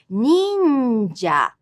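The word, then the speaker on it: 忍者: Another familiar word in the same pattern, going from high to low, is ninja. Ninja literally means a stealthy person. This word consists of 3 syllables with the second sound makes up an entire sound unit.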